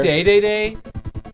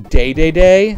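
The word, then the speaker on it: Dedede: Wait, someone actually pronounced the king Day-Day-Day? Yeah, I think that's correct. I think that's how you would say it in Japanese.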